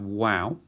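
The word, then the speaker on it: Waw: And then we have Wow. It's frequently pronounced as a V, but for the purposes of this course, it's going to be like a W.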